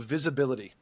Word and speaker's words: VBLTY: And then there's another one called visibility. It's spelled VBLTY, I'm pretty sure.